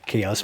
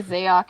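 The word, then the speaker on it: Xaoc: uh shoot you know it's i know it's pronounced chaos but uh most people don't recognize us when i say chaos i say zayok in my head every time even though i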